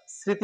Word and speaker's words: স্মৃতি: স্মৃতি নাকি স্মৃতি আমরা স্মৃতি উচ্চারণ করে থাকি এজন্য এখানে দন্তস্য হবে আর ম এর উচ্চারণ নেই তবে নাশিক হিসেবে এখানে